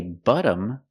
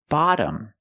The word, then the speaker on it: bottom: look at the difference if I say butom I'm using the short uh sound like cup and up buttom but the word is not pronounced like that it's pronounced bottom we make a more open Sound ah ah like hot and stop ba ba bottom not btom but bottom more open so and then there's